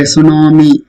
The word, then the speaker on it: tsunami: The same way tsunami. T is there, but it's silent.